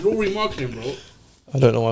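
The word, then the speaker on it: Lauri Markkanen: No, it's Laurie's Laurie marketing, not Lowry marketing. Alright, cool, whatever. Yes, Laurie Markkinen.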